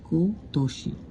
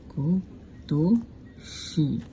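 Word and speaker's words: 今年: This এটার ক্ষেত্রে উচ্চারণ আসে কতোষী। কতোষি কতশি কতশি কতশি মানে হলো দিস ইয়ার তুমি এখানে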